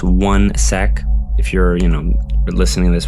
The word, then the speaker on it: 1sec: And basically what 1sec is, it's pronounced 1sec.